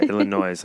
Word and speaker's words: Illinois: at school talking about how you do not pronounce the is. The S, yeah. The Illinois. Yeah, Illinois.